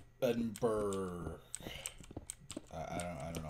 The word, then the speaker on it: Edinburgh: Um, oh, but sorry, my trip edinber, Edinburgh. I don't I don't know how to pronounce Edinburgh, whatever. Like, there's an extra pronunciation. There's an extra syllable there even though it's not there in the word, which is really stupid to me.